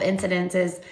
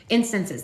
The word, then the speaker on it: instances: So I'll tell you a couple of incidences, is that how you say it? Instances, that's it, where I asked for a sign.